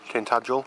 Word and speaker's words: Tintagel: Tintagel. I think that's how you pronounce it.